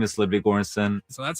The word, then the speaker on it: Ludwig Göransson: My name is Ludwig Göransson. So that's how it's pronounced.